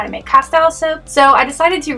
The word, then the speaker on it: castile: oil to make this castel soap other people pronounce it castile soap that's actually how it's supposed to be pronounced but i pronounce it